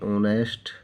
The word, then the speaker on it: honest: जैसे ANN, HONEST, ऑनेस्ट, lady. हमने देखा यहाँ पर एच आया हुआ, लेकिन यहाँ पर एच साइलेंट है, यहाँ किसकी साउंड है, ओ की।